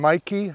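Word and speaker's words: Meike: it's the 1.6 from Mikey I think that's how you pronounce that m-e-i-k-e and that definitely helps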